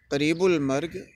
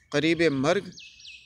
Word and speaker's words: قریب مرگ: چراغ سحری، قریب مرگ، یہ جو ترکیب ہم استعمال کرتے ہیں قریب المرگ، تو وہ تو ویسے ہی غلط ہے، تلفظ کے حوالے سے بھی، املا کے حوالے سے بھی۔ قریب مرگ اور اگر لگانا ہو تو وہ قریب الموت پھر کہیں گے۔ پر آشفتہ، غصے سے